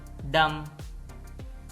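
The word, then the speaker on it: dumb: column column सोलम संजीदा डम यह डम है इसमें भी बी साइलेंट है डम गूंगा थम अंगूठा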